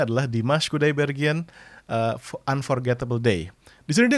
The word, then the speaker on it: Dimash Kudaibergen: Ya ini tulisannya bahasa Rusia tapi dibacanya adalah Dimas Kudaibergen Unforgettable Day.